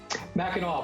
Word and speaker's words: Mackinac: Mackinac, but thanks for having me.